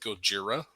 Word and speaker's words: Gojira: Godzilla actually um because the Japanese word is Gojira let's go zero but